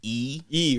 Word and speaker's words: Lee: tell me that you that Lee is pronounced something different and yeah yeah it's actually E right yeah we we go by E and then we put